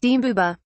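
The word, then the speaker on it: Mbube: Pete Seeger recorded a version in the 1950s as Weem Away, which is how he sang the original lyric, Mbuba, pronounced Mbuba.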